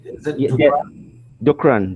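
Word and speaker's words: Dookran: Dukran, DOOKRN, Dukran.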